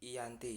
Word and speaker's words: Giyanti: tanggal 13 Februari 1755 nama Gianti sendiri diambil dari lokasi pendatang perjanjian yakni di desa Janti dalam pelafalan Belanda ia tersebut sebagai Yanti sedangkan secara tertulis ia terbaca sebagai Giyanti tempat tersebut sekarang dikenal